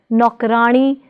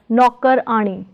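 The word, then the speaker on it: नौकरानी: So, the whole word is pronounced as nokrani, not as nokkarani.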